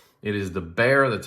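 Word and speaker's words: Bexar: X AR R some people call it the beex it is the bear that's how you pronounce it it is a slip joint that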